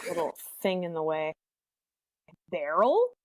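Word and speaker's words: Beryl: thing in the way Barrel is that like Cheryl but with a B you know I actually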